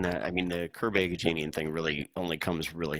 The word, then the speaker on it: Agajanian: Curb Agajanian. Yeah, that's it. Thank you. It's a weird setup, right? I mean, realistically, it's yes and no. It's weird only in that, I mean, the Curb Agajanian thing really only comes really into play during